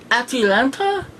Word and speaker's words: Atalanta: Her name is Atalanta? Think Atlanta, but with an extra syllable, which I believe is also a very famous mythological character.